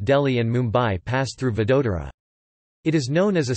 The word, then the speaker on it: Vadodara: Vadodara, Gujarati pronunciation, Oda, formerly known as Baroda, is the third largest city in the western Indian state of Gujarat, after Ahmedabad and Surat.